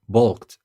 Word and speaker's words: balk: they never bulked and bulk by the way is spelled b a l k that will bring us